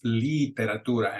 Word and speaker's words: literatura: number three the the one of the biggest mistakes that we hear uh English speakers or non-native Spanish speakers with the pronunciation is that vowel I the E so like a number three oh here people say tomotamian literature you want to make sure that it's literatura and it got me